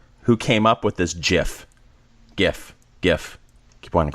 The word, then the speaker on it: GIF: They track down the chap who came up with this GIF. Keep wanting to call it GIF. I think both are. Well, GIF is actually correct, but everybody pronounces it GIF.